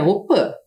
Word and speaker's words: Opi: Embora a gente escreva aqui Opi, que é a casa de reza, a pronúncia correta é Opã.